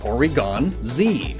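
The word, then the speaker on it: Porygon-Z: with one meaning so Porygon Z notice the tiny bit of Silence between the two but it's still one one word kinda and plus up until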